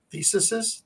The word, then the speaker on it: theses: Theses? Theses. But rhymes with feces.